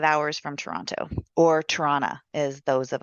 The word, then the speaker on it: Toronto: Did I say it right? Toronto. It's like piranha. Piranha.